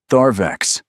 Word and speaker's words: Tharvex: Then, Tharvex. She pronounced it correctly. The final syllable carried the Sarathi elongation used for the dead.